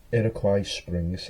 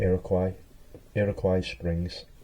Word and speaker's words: Iroquois Springs: As well, I can't say it properly. Iroquois Springs. I think that's how you say it. Iroquois Springs.